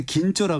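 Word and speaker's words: 金鳥: 왜냐하면 일본에서 긴조라 그래서 금조라고 하는데 그 발음을 긴조라고 하는데 예.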